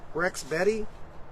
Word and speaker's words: Rexbeti: I'm gonna call it Rex Betty r-e-x-b-e-t-i that's how I'm gonna pronounce it really nice 11 inch